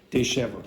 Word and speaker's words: disheveled: Okay, so this is where this comes from, and that's why you get the pronunciation sh. Okay, disheveled.